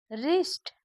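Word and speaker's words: wrist: उच्चारण नहीं किया जाता फिर से समझिए अगर किसी शब्द का पहला अक्षर डब्लू हो और उसके तुरंत बाद आर आए तो डब्लू का उच्चारण नहीं किया जाता जैसे रिस्ट मतलब कलाई रंग गलत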